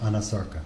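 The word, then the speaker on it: anasarca: examiner, did she have a condition known as Anasarka? If I'm not mispronouncing it. No, you're pronouncing correctly. She did have a condition called Anasarka.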